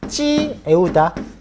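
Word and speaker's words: Triệu Đà: 요 진에서 초한으로 넘어가는 요 시기에 진나라의 장군 파견돼 가지고 남비엣이라는 나라를 공격하는데 그 사람 이름이 찌에우다. 찌에우다라는 사람이 만든 나라예요.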